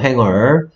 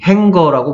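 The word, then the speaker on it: hanger: 행어. 예, 행거라고 발음하지 않습니다. 행어라고 발음해야 돼요.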